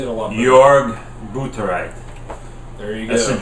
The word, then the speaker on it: Jörg Buttgereit: Jörg Buttgereit.